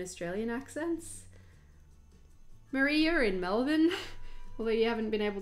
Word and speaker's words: Melbourne: yeah, something a lot of people have been saying is like the Victorian pronunciation, particularly in Melbourne, of Melbourne being Malbin, and I said pank, and that's what made me think of it.